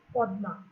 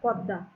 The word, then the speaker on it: পদ্মা: আসলে এই শব্দটার সংস্কৃত উচ্চারণ কিন্তু পদ্মা, আমরা বাংলায় বলি পদ্মা।